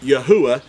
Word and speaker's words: Yahuwah: knowing that the name of the creator is pronounced yahuwah and and it's not and it's not by